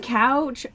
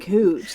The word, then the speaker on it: Couch Street: Like saying couch, okay, I get that. Couch Street, it's fucking spelt like fucking couch. Yeah. I'm sorry they want to pronounce it cooch.